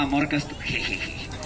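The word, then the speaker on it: Amor Castúo: Se llama Amor Castú. Amor Castú. Con acento en la U.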